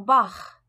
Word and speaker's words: Bach: La prononciation du groupe CH. Ach laut, CH. Après, A, O, U, Au. Der Bach, le ruisseau.